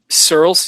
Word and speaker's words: Searles: organs and Edward Francis I think he's pronounced that Sears how do you pronounce that Andres you see that can you see hello you guys there yeah Searles yeah so this man he